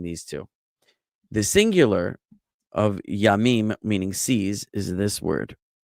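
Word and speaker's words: ים: The singular of yamim, meaning seas, is this word. No. Is this word. Okay. Which in Sephardic Hebrew and modern Hebrew would be pronounced yam, and in Ashkenazic Hebrew and Yemenite Hebrew would be pronounced yum.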